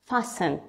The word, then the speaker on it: fasten: T, like لما تجي بنص الكلمة مثل كلمة fasten. Fasten, مش fasten. Fasten your seatbelt.